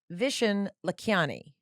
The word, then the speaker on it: Vishen Lakhiani: just pull them up here's rapid fire with vishen lakiani did i do it my god you actually pronounced my name perfectly that's lovely okay here